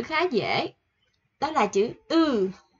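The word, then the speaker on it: ㅡ: Đó là chữ Ư. Ư của Việt Nam mình thôi, Ư.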